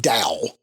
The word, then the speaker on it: Tao: to it's it's pronounced Dow but yes I don't know why it's tell like chese Japanese th it's it's pronounced with a D sound or it's sort of a in between D and T I'm probably not doing